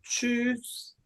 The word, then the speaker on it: tschüss: tschüss. Tschüss, 안녕 그럴 때 쓰는 말이고요. SCH는 아까 말했듯이 쉬 발음이 됩니다.